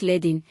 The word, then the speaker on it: leading: Spacing includes letter spacing, the space between individual letters, and leading, pronounced ledding, which is the space between lines of text.